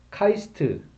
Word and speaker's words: QAIST: 이 곳에서는 QAIST, 그래서 카이스트, 예, 카이스트로 발음하는데요. 이 5가지 전략을 다음과 같이 내놓고 있는데요.